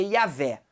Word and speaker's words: Yavé: Mas enfim, entre os judeus a pronúncia vai ser o eterno, entre os cristãos de fala portuguesa vai ser Jeová, e entre os estudiosos, o pessoal mais da academia, vai ser Yavé. Essa vai ser a pronúncia certa.